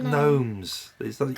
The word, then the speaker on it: gnomes: the goose gnomes gnomes gnomes you don't pronounce the G I know good know